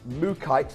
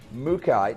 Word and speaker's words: mookaite: know you're loving it, it is not actually pronounced mookaite like I've been saying. It's actually pronounced mookaite, which actually kind of makes sense because it's called the Mooka Creek. That's where this gemstone is. I'm struggling to say it. So it's not mookaite, it's mookaite.